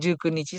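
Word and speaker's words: 十九日: Sejauh ini ku itu paling banyak dipakai di kalender. hmm, Tapi kalau kita pengucapan biasa, misalnya ini 19 ya, Jukyu. ya, Nanti kalau di 29 nih Jukyu. Kalau konteksnya cuma angka. Tapi jadi tanggalan, jadi kalender, ya, jadinya Jukunichi sama Nijukunichi.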